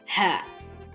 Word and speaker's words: ሀ: here which is the example area we will have an example that that would go with each